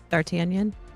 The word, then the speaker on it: D'Artagnan: Rarely catch y'all live, but for the 100, gotta show mad clown love for Can you pronounce that, Holly? D'Artagnan.